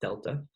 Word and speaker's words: delta: It's pronounced delta.